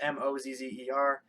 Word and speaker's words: Mosier: My last name is Mosier. But it's Chris, Mozzer.